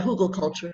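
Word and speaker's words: Hügelkultur: Okay, the first one says, I don't know if I don't think I'm going to pronounce this right. The hugelkultur, is that right? Okay. Yeah, hugelkultur, yeah.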